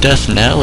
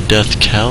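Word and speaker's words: Death Knell: and a death now is it death Nell or death Kell how the hell do you pronounce that n silent k knife what the hell is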